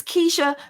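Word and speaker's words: Keshia: say it yeah yeah it's it's Keisha but I have to say kashia or else I would spell it wrong so uh Keisha Knight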